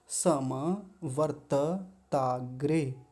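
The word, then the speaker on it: समवर्तताग्रे: ये पहले आ जाएगा वर्त वर्त दो त है एक त आधा है एक त पूरा है तो वर्त वर्त त ऐसा बोलेंगे और ताग्रे ताग्रे ऐसा जोड़ लेंगे। उच्चारण सीखने के लिए सबसे अच्छा तरीका होता है कि शब्द को तोड़ लें। सम वर्त ताग्रे ऐसा कर लेंगे।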